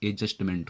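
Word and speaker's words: adjustment: देखिए, डी के बाद जब भी जे आएगा तो डी का मतलब उच्चारण, प्रोनाउंसिएशन नहीं करना है, तो एडजस्टमेंट हो जाएगा।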